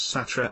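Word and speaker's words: सत्रह: Indian movie 17 danger 17 in Hindi pronounced as satra and the word sounding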